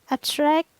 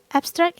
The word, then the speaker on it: abstract: but different stress placement so for example abstract abstract in adjective and noun the stress is placed in the first syllable so it's abstract abstract and Abstract as verb